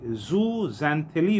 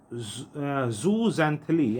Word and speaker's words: Zooxanthellae: अब इन कोरल्स को, यानी पॉलिप्स जो हैं, वो एल्गी, ज़ूज़ैंथिली उस एल्गी का नाम है, उसको अट्रैक्ट करते हैं।